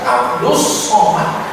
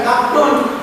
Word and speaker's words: Abdus Somad: aja salah gimana orangnya itu kan bacanya sysiah Abdus Somad bukan Abdul salah namanya Jak betul apalagi otaknya